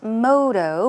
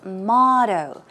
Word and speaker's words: motto: one is that's right not moto but it's motto okay let's take a